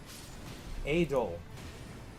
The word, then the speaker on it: Adel: Adel. That is how you pronounce that name. I know someone in real life who is named Adel, and that is how you pronounce it.